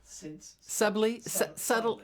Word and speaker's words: subtly: Subtly.